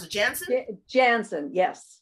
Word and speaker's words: Janzen: How do you pronounce it? Janzen? Janzen, yes. Janzen, from Canada.